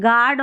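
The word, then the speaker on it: guard: गार्ड और गैस, यहाँ पर यू का उच्चारण नहीं हो रहा है।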